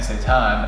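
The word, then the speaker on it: seitan: make it happen there is a protein called Satan I believe it's spelled let's see s e i t a n Satan and I think it's like 21 G per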